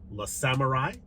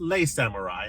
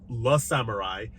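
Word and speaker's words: Le Samouraï: Starting with these 2 right here, La Samurai, not Les Samurai, as I mispronounced in my review of this title, but La Samurai.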